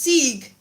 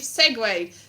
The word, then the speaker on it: segue: one way which i used to think was pronounced sig i've just seen from one thing to another no you segwayed but it's spelt c yes but it's pronounced